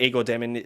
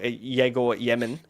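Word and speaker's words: Egor Demin: Apparently Igor Demin, or Yegor Yemen is how you pronounce it, it will be the starting point guard in Brooklyn.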